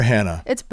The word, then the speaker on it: Hana: Did you say Hana or Hannah? It's both. It's both. Yeah, it's both. And I kind of grew up Hannah because people couldn't pronounce Hana. And then I like heard Hana in college and I was like,